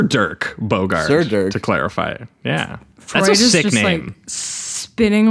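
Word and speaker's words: Dirk Bogarde: say his name too dick borgard am I saying it wrong am I embarrassing myself on on PA no you would not be embarrassing yourself at all because I mispronounced at least 10 names every single episode and people yell at me for it think it's Durk a Durk Bogard I think s sir Dirk Bogard to clarify yeah spinning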